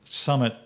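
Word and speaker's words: PSUMMIT: that was done called Summit 2 by the way the p is silent in these uh in the in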